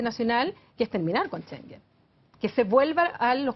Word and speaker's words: Schengen: Algunos, ¿Schengen se pronuncia? Schengen, Ya.